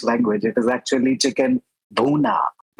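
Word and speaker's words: bhuna: so funny listening to Nathan saya because that syllable duna does not exist in the English language. It is actually chicken buuna. But the way Nathan says it is bua. It's a buuna. It's buna.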